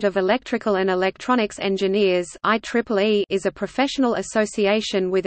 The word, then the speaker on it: IEEE: Today, the organization's scope of interest has expanded into so many related fields that it is simply referred to by the letters IEEE, pronounced IEEE, except on legal business documents.